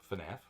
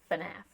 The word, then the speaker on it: FNAF: FNAF? FNAF. Oh, you do say it different. FNAF. Damn it. I'm F-U-H, you're F-E-H.